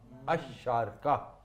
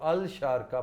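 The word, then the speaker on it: الشارقة: Sharjah in fact is शारका। शारका। शारका शारका। Means मशरिक, जिधर से सूरज तुलू होता है। अशारका, इसको लोग अल शारका पढ़ते हैं, अल नहीं है, ये अशारका।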